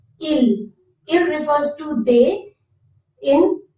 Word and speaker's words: il: How to say they when referred to masculine in French is il. Il. Notice it has the same sound like the he, il, but in writing you have to write s. Il.